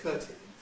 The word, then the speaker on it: curtain: There are a few people who use the old pronunciation that Daniel Jones did, which had an it in it, thus curtain. But that's very rare nowadays, curtain.